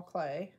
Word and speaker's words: Klee: google it if you if you google paul clay and that's again that's spelled k-l-e-e if you google that you should